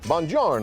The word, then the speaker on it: Buongiorno: Buongiorno. Buongiorno. You know, oh my goodness, I've never seen that written out. If I mess it up again, she'll yell at me. What is that? Bon what? So buongiorno, Brian.